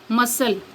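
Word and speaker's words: muscle: next है silent C सी इज not pronounced C pronounce नहीं किया जाता या सी आवाज नहीं देता इन the ending स्केल for example मसल next है साइलेंट डी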